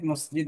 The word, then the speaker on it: مساجد: মাসাজিদ উচ্চারণটা ঠিক হচ্ছে না, বুঝছো? মাসাজিদু কাসীরাতুন।